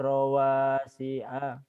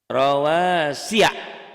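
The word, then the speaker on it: رواسي: Kemudian yang ini yaj'aluna asabi'ahum yaj'aluna asabi'ahum wa ja'ala fiha rawasi'a rawasiya, bukan si a, karena itu ya bukan hamzah.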